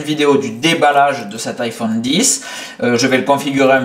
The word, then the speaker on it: iPhone X: 15h et des bananes l'iphone os x iphone 10 puisque on prononce comme ça apparemment l'iphone 10 vient d'arriver